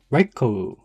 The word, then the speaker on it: Raikou: No, I can pronounce it correctly. Raikou.